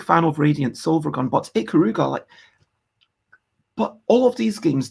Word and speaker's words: Ikaruga: couldn't have Axelay, you couldn't have is it Ikaruga, the one where you're going between black and white? Am I getting the name wrong? Ikaruga, let me double check.